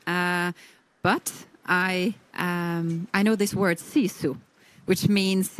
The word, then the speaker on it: sisu: It's, yeah, sisu. It's quite a soft word. Yeah, but they, you know, the Finnish, they say it like this, sisu.